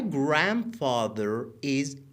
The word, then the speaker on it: grandfather: famous au ber ب my grandfather دقت کن دقت کن دقت کن نمیگیم د خونده نمیشه د تلفظ نمیشه grand B B B